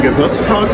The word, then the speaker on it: Geburtstag: Zum Geburtstag viel Glück.